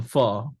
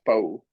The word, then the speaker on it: pho: this like noodle, some pho, right? Pho, like what pho is, right? Oh Like yeah, I thought it was always pronounced faux. no, and it's gonna be